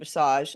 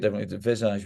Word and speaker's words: Visage: club and and bassage am I pronouncing it right I've always said bassage but you said it a little differently have I've been saying it wrong this whole time I think we just say it Visage we you say okay